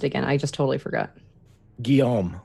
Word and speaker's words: Guillaume: Guillaume. Guillaume. It's like William, right?